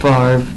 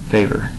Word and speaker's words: Favre: Favre. Hold on. I'm just going to say Favre, even though it's not really how it's spelled.